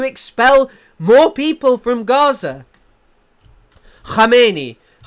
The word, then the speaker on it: Khamenei: Khamenei would be how it's pronounced.